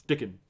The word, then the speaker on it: Dickon: It's Dickon. Because Dick in. That's just funny. Dickon. I think it's like Rickon.